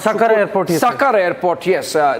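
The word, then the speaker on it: Sukkur: Sucker airport. Yes. Uh the pronunciation is sucker.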